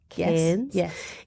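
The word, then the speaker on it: Cairns: at the Oz acpn in K that's how you say it can in Northern Queensland so we are going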